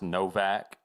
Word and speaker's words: Nowak: How about we revisit Henry Nowak? Okay. And I think it's actually pronounced Novak.